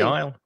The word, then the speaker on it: aisle: with that word because another silent letter we do not pronounce the s the pronunciation of isle